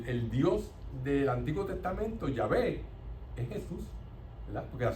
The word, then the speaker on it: Yahvé: Claro está, nosotros no sabemos si verdaderamente es el nombre, porque el griego antiguo solamente escribía las consonantes, no las vocales, y entonces ese esa pronunciación se perdió. Eh, pero los estudiosos dicen que lo más probable era la a y la e.